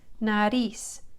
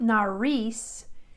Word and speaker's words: nariz: Nariz is an R. It's not nariz, it's nariz. So my tongue is just kind of tapping the ridge right there behind my teeth like, well, say this with me.